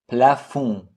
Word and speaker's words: plafond: Plafond, silent D.